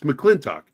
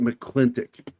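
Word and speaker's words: McLintock: as he calls it it's mclin talk but he pronounced it mcclintic which drove me [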